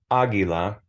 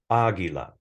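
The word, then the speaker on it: águila: ah in this case Aguila has an emphasis in the pronunciation over the ah Aguila it doesn't mean that it has to have an accent mark agua it has the emphasis in the pronunciation on the second to last syllable also known as the first syllable in this case um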